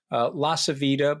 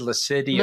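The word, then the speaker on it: LaCivita: La Savita, by the way, I'm Italian, so it's La Savita. I love the way you pronounce the name, by the way. I think you said Lascidia.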